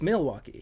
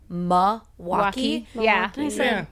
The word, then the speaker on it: Milwaukee: Milwaukee without the L is people locally like myself will slip on Milwaukee all the time. Whereas if you're outside you're like it's Milwaukee.